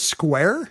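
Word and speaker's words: Squier: His last name was Square? It's spelled Squire, but he insisted people say Square, which I think he meant Square, but with a square.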